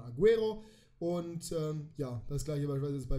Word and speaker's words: Agüero: spricht man Spanisch und im spanischen bedeutet das Ü dass man das U mitpricht weil normalerweise spricht man UE als E aus einfach nur man spricht das ja u nicht mit aber wenn man hat dann spricht man es mit also nicht Aguero wie es normal wäre sondern Aguero und ja das gleiche